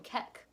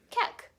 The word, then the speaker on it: Kek: Not only that, but the user ID ends with QEK, which could be pronounced as Kek.